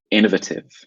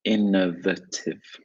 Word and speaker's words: innovative: So I would say innovative. Very quick. Innovative. Innovative. Yeah. Innovative. Sounds very fast, actually, when I say it. I think the American way, you would stress the A, innovative.